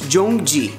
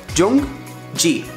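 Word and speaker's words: 정지: the car, what you want to say is jongji. Jongji. Spell it right here once again, jongji.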